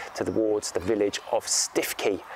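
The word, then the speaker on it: Stiffkey: North norfol Coast to towards the village of stiffy pronounced stuki here in norfol then from there he going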